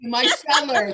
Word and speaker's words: micellar: Thank you, micellar. I always put the emphasis on the wrong syllable.